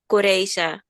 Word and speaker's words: Carissa: now no, it's not a Dutch name, but I'm born in the Netherlands, so the name pronouncement is Coreza.